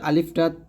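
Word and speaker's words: ألف: উচ্চারণ করতে হবে আলিফটা এবং আরো বিষয় হচ্ছে আলিফটা তাড়াতাড়ি উচ্চারণ করতে হবে টান দেওয়া যাবে না আলিফ আলিফ আলিফ আলিফ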